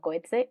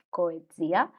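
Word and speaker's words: Coetzee: a coexia cohete y toda la vida lo he llamado cohetese y ahora desde el club de lectura aprendí que se pronuncia correctamente coedia este autor ganó el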